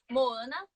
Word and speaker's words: Moana: Here in Brazil, I don't know why, but it's hard for them to say Moana. Really? Is it really? I don't know why. In Portuguese, That's interesting. The accent goes like Moana.